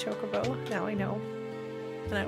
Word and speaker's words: chocobo: chocobo when i was a kid but it's chocobo now i know and i will say it